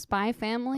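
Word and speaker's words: Spy × Family: what is my family it's spelled spy X family but it's pronounced spy family okay I don't know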